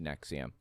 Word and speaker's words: NXIVM: It's pronounced NXIVM.